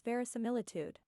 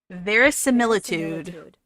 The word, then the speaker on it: verisimilitude: of ver hold on the correct pronunciation of this word is verisimilitude verisimilitude thank you yeah I